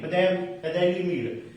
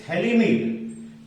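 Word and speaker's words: phthalimide: Gabriel Thalamide, don't be say PH is silent, Thalamide. It is Thalamide.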